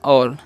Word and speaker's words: all: आगे देखिए ALL। तो इसे हम क्या पढ़ेंगे, ऑल पढ़ेंगे, क्योंकि ये वॉल्स है, उसके बाद जस्ट बाद 2 कॉन्सोनेंट है, तो उसका जब भी 2 कॉन्सोनेंट आता है तो उसका उच्चारण अ हो जाता है, तो क्या होता है, ऑल।